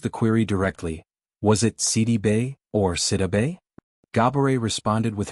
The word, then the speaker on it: Sidibe: She revealed that the accurate pronunciation of her last name is actually Si-dee-bay. This version reflects its Senegalese origins, a heritage tied to